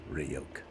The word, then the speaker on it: Ryuk: written in it Hey kid it's pronounced rayoke you know what the